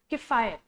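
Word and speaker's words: Kiphire: इसकी pronunciation worry कर सकती है, बट इट्स किफायर। तो their villages are based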